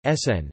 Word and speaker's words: CERN: pour la Recherche Nucléaire, known as CERN, French pronunciation, SN, derived from the name Conseil Européen pour la